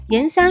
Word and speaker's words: 铅山: Yanshan is a county under Shangrao. The "铅" in Yanshan isn't pronounced "qian" — because it's preserved from the ancient pronunciation.